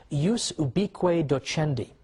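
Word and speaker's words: ius ubique docendi: in in Latin and I'm using the church pronunciation use ubi Cueto Chen D which literally means the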